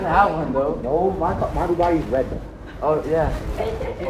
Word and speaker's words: Bugatti: Abu Ghadi? No, Bugatti is the car.